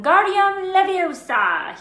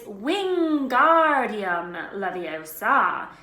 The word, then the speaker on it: Wingardium Leviosa: much more luck when Guardium Leviosa he shouted waving his long arms as a windmill you're saying it wrong Harry heard her Miami snap its Wingardium Leviosa make the GAR nice and long you do it done